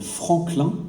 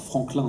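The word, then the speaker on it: Franquelin: ce fort qui date d'un cartographe qui s'appelle Franklin alors Franklin c'est ça s'écrit à la française FR a n Q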